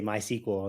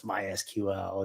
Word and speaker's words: MySQL: mysql as a database and people would say my sequel and it was always like that same sort of thing it's like no it's mysql it says it on the website on their